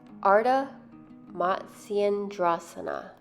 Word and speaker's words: ardha matsyendrasana: So the next pose that we're going to break down is pronounced ardha matsyendrasana.